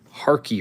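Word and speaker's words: Harkey: Mike Harky rhymes with car key.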